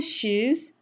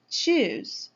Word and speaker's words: choose: eat do you wanna shoes your friend will be really confused why would he choose the correct pronunciation is choose what do you want